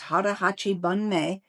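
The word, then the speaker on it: 腹八分目: Um and it's known as Hara Hachi Bun Me. Um then you'll understand why we're discussing it today. So, how was my pronunciation? Okay? Yes, you actually said it perfectly.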